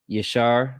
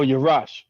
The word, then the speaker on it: Yarash: So with that being said, man, this is Word to the Unwise podcast with your host, Yashar. I'm pronouncing that right, sir? Oh, Yarash. Yarash.